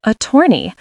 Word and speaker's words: attorney: Attorney stresses the second, attorney.